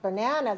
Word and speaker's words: banana: but if it's a word like banana the first it was weak and a week sylla's should be low and short and then you rise and lengthen the second syllable and then you go down for banana all right cucumber falling